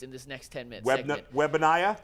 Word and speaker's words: Wembanyama: speaking of guys whose last name we're going to pronounce 17 different ways in this next 10-minute segment. Wembanyama?